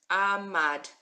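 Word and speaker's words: עמד: We've got our silent letter ayin, only taking on the sound of the vowel. Our mem that looks like a mountain. Ma, and our dalid. Our dalid looks like a door. Ahmad.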